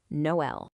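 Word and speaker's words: Noël: But the stands right in the middle and says, "Hey, you two pronounce yourself separately." And that's how we get Noel.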